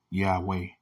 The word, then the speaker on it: Yahweh: statutes, and commandments of Yahweh's. Mm-hmm. You know what I say? Yahweh's. Yahweh. You see how that sounds? Yahweh. It just ain't spelled with a W-A-Y. It's W-E-H. Yahweh.